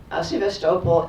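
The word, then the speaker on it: Sevastopol: You know, we have a city in California called Sebastable and it's very tempting to pronounce it like that, but that's not the way they say it.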